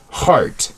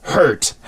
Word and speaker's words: heart: funny message she says why do Koreans have a hard time pronouncing heart you know like your heart my heart is beating uh it always sounds like hurt I've noticed that too